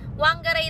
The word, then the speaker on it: Whangarei: And then pagka nagbasa ka ng kunyari WH, nagiging F siya kunyari yung sa city namin. Whangarei. Whangarei dapat ang basa.